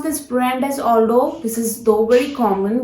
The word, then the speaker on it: Aldo: Never pronounce this brand as Aldo.